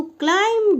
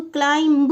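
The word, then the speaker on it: climb: अंधेरे में when he tried to क्लाइम down from the wall. यह देखो क्लाइंब नहीं बोलेंगे। उसको बोलेंगे क्लाइम। यह बी साइलेंट रहता है।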